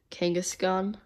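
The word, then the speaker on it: Kangaskhan: it just focused alright okay go wait you pronounced it wrong it's a drug Kangas gun I remember watching a Pokemon episode about that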